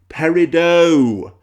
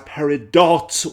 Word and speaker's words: Peridot: won't talk to us, the name of the gemstone and thus of the character in Steven Universe is Parido. Perido. Say it with me, children. Perido. If I hear the name pronounced as Peridot one more time, then I'm going to